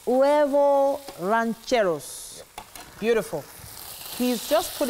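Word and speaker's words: huevos rancheros: It's the pronunciation I want to get right. Huevo rancheros. Huevo rancheros.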